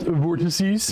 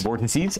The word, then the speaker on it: vortices: yeah in the Box it's pronounced vortices vortices I'm going to do